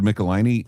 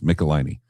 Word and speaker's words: Michelinie: But Roy Thomas and Howard Chaykin, David Michelinie and Walt Simonson. And by the way, it is pronounced Michelinie.